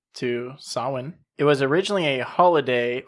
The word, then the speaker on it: Samhain: Halloween derives from Samhain, which is spelled exactly how it is definitely not pronounced. Not at all. No. It's the way you would read it as Samhain, Samhain, but this is a Celtic or Gaelic word.